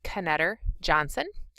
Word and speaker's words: Knetter-Johnson: Knetter-Johnson. Yep, the K is pronounced because it's Polish.